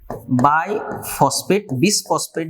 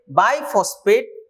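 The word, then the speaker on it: bisphosphate: Form है ribulose बाइफॉस्फेट, बिसफॉस्फेट बोल सकते हैं लेकिन साइलेंट होता है यस यहाँ पे, बाइफॉस्फेट, C for carboxylase oxygenase, oxygenase, carboxylase oxygenase.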